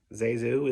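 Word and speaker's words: ZaSu: Zazu is a mixture of her two relatives, aunts, I think. Eliza, and Susan.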